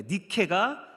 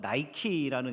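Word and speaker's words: Νίκη: 그러니까 니케가 성경에 한글 성경에서는 니고라는 말로 발음되고요. 사람들을 뜻하는 데모하고 붙어서 니고데모가 됐고 오늘날 미국에 가서는 영어식 발음으로 바뀌어서 나이키라는 이름으로 회사 이름으로 쓰이고 있습니다.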